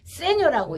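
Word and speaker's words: segno: 그거는 어떻게 읽냐 하면은 세뇨라고 읽어요.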